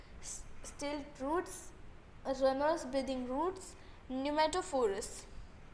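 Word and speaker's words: pneumatophores: तो इसका प्रोनाउंसिएशन है न्यूमेटोफोरस, पी साइलेंट होता है इसमें।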